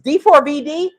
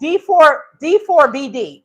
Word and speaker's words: D4vd: Is D4, it's spelled D4VD. I mean, it sounds like you got a venereal disease, D4VD.